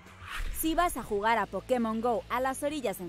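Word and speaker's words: Pokémon: mágicas asegúrate de que nadie te escuche pronunciar pokemon se van a reír igual que nosotros nos reiríamos escuchásemos pokemon que es como lo pronuncian ellos pero esta vez no os voy a aconsejar seguirles la corriente y es que pokemon tiene tilde en like perderéis unos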